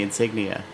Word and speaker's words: insignia: It's got the insignia. Oh no, that was the last one. Insignia has 4 syllables. There! That's where the gas is escaping! Insignia is 4 syllables.